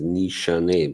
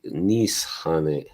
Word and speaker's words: Nishane: Just want to say that uh I found out they I know everybody pronounces the name as Nisha, but actually in Turkish they say Nishane.